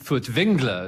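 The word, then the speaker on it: Furtwängler: you can starting now well Vilhelm foods Engler as you should probably it be pronounced because there's an umlaut on the a in his name was a great germanic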